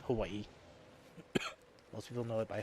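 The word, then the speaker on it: Hawaiʻi: me about that before Hawaii is the proper way of saying Hawaii most people know that by Hawaii the W is a v in the Hawaiian language and I do have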